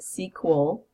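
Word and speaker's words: SQL: sequel which stands for structured query language it's pronounced sequel it is an international standard that's used and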